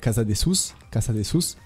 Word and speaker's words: Casadesus: Et après, t'as l'espagnol Casa de Sus.